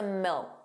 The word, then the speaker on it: milk: The final K sound, that C was not pronounced. It was just a milk. Milk. So you put your your tongue in the position of a K. Milk. But you just don't push out that sound.